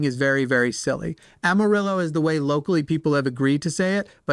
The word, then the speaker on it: Amarillo: Amarillo is the way locally people have agreed to